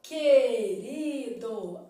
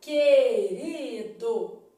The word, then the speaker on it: querido: eu preciso avaliar ó na palavra querido é dígrafo porque o u não é pronunciado Ó querido a boca esticada querido beleza então beleza só